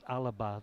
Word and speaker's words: Alba: Alba Alba Domingo well Alba is the Garlic name for Scotland oh yeah so and Scotland Alba means Scotland I did not know that and it's pronounced Alaba there's some a hidden a yeah so this is